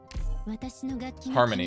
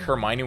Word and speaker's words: Hermione: Harmony. Yeah, that's what I thought. Because I knew it spelled like Hermione with the O and I-E, but I was like, I'm pretty sure it's Harmony with an A.